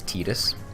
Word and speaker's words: Tidus: It's Tidus.